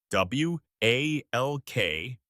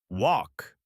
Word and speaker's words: walk: W A L K. The L is silent. You say walk.